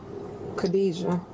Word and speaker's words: Kadijah: Kadijah. That's That's how you pronounce my name, Kadijah.